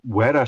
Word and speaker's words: Wera: your Wera screwdrivers. There are tools. Wera? They're supposed to be pronounced Vera, apparently.